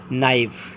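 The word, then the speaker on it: knife: there के silent no नाइव के एन आई एफ ई नाइव after के एन and after that I it means vowel so नो नाइव same non sorry नोक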